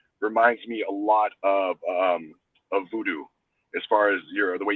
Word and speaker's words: vodou: Number one, voodoo is spelled absolutely wrong. It's not VOODOO. Voodoo is supposed to be spelled VODOU.